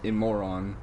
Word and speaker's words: Imorgon: This car's name, Imorgon, or Imoron. No, I'm not calling anyone a moron. That's literally how it's pronounced in Swedish, is Imoron.